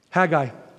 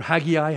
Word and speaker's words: Haggai: Number five, Haggai, or Haggai, however you want to pronounce it.